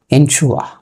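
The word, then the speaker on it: ensure: এনশুয়া, এনশুয়া মানে কি যেটাকে আমরা এনশুর বলি, উচ্চারণ হচ্ছে এনশুয়া।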